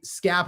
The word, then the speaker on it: Skap: So, I'm a pre- I'm appreciative, you know, because my Scab rhymes with cap.